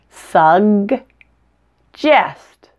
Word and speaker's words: suggest: placement as the gut the second G is a sound to make the just sound the front of your